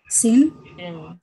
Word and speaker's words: Shin: Shin. What's the alternate pronunciation? Sin.